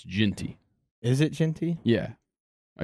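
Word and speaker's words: Jeanty: that's Ashton Gian numbers why' you say gianti why' you say it like that I've heard I've heard people say his last name like that I used to say ginty or Jey and but it's it's ginty is it ginty yeah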